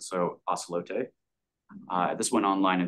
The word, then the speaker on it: Ocelote: middle child is ocelote it's not acelot it's the Spanish pronunciation of the word so ocelote uh this went online